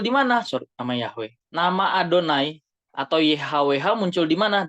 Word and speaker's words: YHWH: Orang Ibrani bacanya Adonai.